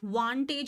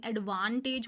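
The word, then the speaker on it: advantage: इसके जब भी हमें प्रोनाउंस करने में दिक्कत आएगी तो आप इसको वेंटेज नहीं बोलेंगे, क्योंकि ए है, तो आप इसे बोलेंगे एडवांटेज बोलते हैं ना।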